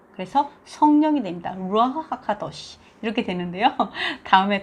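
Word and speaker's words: רוח: 그래서 근데 밑에 아까 다음에 모음을 보겠지만 잘려져 있는 이렇게 딱 이런 게 있으면요 아으 발음이 돼요. 그래서 루아흐가 돼요.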